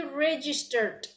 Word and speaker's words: registered: idea we have already registered so when you pronounce it you gotta hear that dd register okay for the class